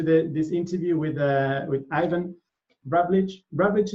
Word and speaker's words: Ravlich: Ravlich is the right pronunciation? Yeah, that's correct.